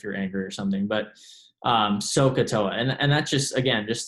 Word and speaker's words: SOHCAHTOA: might make if you're angry or something but sohcahtoa and that's just again just to help you